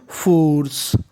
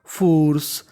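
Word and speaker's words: force: without without using using फोर्स फोर्स देखिए फोर्स के आखरी में ई है हमें ई का उच्चारण नहीं करना ही वाज ही वाज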